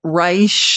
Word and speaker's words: Reich: If you're just meeting Robert Reich, and again, it's spelled like Reich, like Third Reich, which is icky, but he pronounces it Reich.